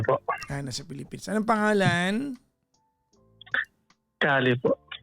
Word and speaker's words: Kali: Kali po. Spell. K-A-L-I. K ba? K? K po. Spell it as like you pronounce it.